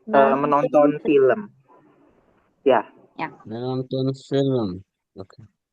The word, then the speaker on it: film: How do you pronounce the film? Film. Menonton film. Film. Film. Film. Film. Yes. Film. So, it should be film. Yes, film. So, it should be the E sounds in the middle of L and M.